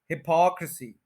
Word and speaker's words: hypocrisy: 4 syllables हैं, second के ऊपर स्ट्रेस है, हिपोक्रेसी। और के के बाद ये जो आर यू एच है, ये अब आपको बहुत अच्छा पता चल गया है कि ये जो यू एच है, ये श्वा साउंड होता है। इसको कहते हैं और उससे पहले आर है तो ये बनेगा र, तो ये बनेगा हिपोक र सी, हिपोक्रेसी, हिपोक्रेसी, हिपोक्रेसी।